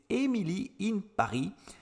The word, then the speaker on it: Emily in Paris: l'avez deviné j'imagine c'est emilie in paris je le prononce à la française prononcé à l'anglais l'américaine